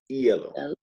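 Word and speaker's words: hielo: ice skating um yellow kind of sounds like yellow yeah yeah and how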